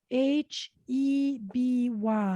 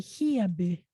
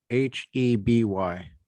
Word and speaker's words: Heby: H, Mhm. so Heby, Hieby. Heby. Mhm, Okay, I would never have known how to say that.